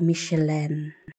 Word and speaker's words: Michelin: Ang hirap i-pronounce mga loves kasi nga French. Pag sa American daw Micheline.